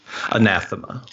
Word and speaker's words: Anathema: So just to make sure we have, what is the proper pronunciation of your game? Is it Anathema or Anathema? Anathema.